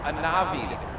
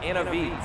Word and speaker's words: Anavid: And oh, by the way, just real quick, my name is pronounced Anavid, not Anavid. So if I'm going to